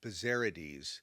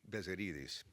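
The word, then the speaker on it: Bezzerides: By the way, you hear his name pronounced Bazerades, but I'm preferring the more correct Greek Bzerites.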